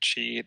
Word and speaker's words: Qi: Yeah, I pronounce it Qi, the QI.